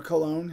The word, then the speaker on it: Cologne: off in Germany and comb or cologne however you want to pronounce it do miss i